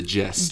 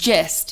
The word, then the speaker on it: gist: the gift the gift but the real word is the gist gist yeah yeah yeah what's